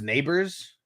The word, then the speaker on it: Nabers: now okay uh B said nabers is pronounced neighbors okay all right and